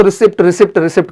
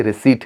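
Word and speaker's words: receipt: ध्यान रखिएगा कि हम अक्सर इसको रिसिप्ट करते हैं, बट ये रिसिप्ट नहीं है, एग्जैक्टली रिसीट है। इसमें आपका पी जो होता है वो साइलेंट होता है, तो ध्यान रखना है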